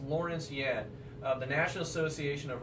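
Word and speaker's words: Lawrence Yun: Lawrence Yen, I believe his name's pronounced Lawrence Yen, of the National Association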